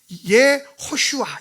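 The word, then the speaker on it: יהושע: 그러면서 내가 오늘부터 네 이름 호세 앞에 저 유드를 붙여가지고, 유드가 붙이면 발음이 뭐가 되냐면 여호수아가 돼요. 내가 오늘부터 너를 여호수아로 부르겠다. 원래는 예호슈아 이렇게 되겠어요.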